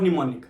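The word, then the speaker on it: mnemonic: लिखना है इन्फ्यूरिएट और निमोनिक निमोनिक स्पेलिंग में एम ओ एन आई सी जब आप इंफिनिटी सर्च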